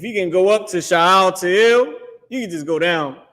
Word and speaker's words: Shealtiel: But if you can go back, so after Shealtiel or whatever that was, Shealtiel, you know, I call him Shalathiel, which is his name.